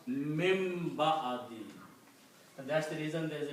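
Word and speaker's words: مِن بَعْدِ: It becomes min ba'adi. And when ba and noon comes together, they come together, the sound of noon changes into sound of mim with the hunna. So you pronounce mim ba'adi.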